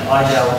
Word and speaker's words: iGel: So that's what Eagle is, and Eagle is how we pronounce it in German, and iGel anywhere else in the world, because everyone loves an I don't know, I something else.